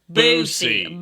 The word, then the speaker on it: Boosie: No, not Bussy. Boosie. Boosie. And you got to kind of say it like that. It's Boosie.